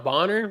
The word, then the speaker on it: Bonner: know this but apparently Alisa Thomas and danana boner is that how you say her name yeah Dan Bonner are engaged and have kids together like what